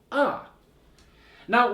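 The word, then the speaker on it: оно: This is ano. Ano. So the first O is not stressed. The second O is stressed. So the first O sounds like a, and the second O sounds like O.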